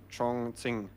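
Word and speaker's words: Chongqing: the chat pointed out the correct way to pronounce the the Chinese city where the match is moving. Chonging.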